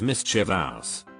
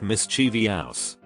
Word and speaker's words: mischievous: Mischievous is mischievous. Not mischievous.